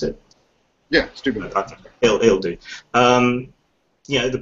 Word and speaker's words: Steubenville: Whereas if you look in this country, well, let's say Steubenville, is that how you pronounce it? Yeah, Steubenville.